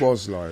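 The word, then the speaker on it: Szoboszlai: Sobozlai, is it? Sobozlai? How do you pronounce it? Soboslai.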